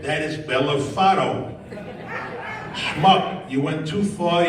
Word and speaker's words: Bellofatto: Spell it. I said, BELLOFATTO. GPS said, that is Bellafato.